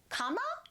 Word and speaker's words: cama: change of scenery and we chose our Portuguese cama?